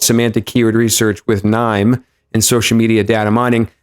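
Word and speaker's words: KNIME: It's pronounced nine though.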